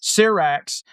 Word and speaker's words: Syrax: Back at Dragonstone, Rhaenyra is told ships are massing for the gullet, and she wants to fly Syrax. Is that how you say it? Yes. Syrax herself.